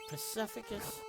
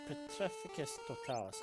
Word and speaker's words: Petrificus Totalis: Pacificus. No. What the peticus totalis? All right. Petrificus totalis. I hate I hate the pronunciation of some of the spells in this game or in general.